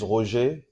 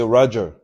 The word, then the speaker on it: Roger: so my name is RO if you cannot pronounce Ro you'll say Roger in English it's easier I'm from C Divo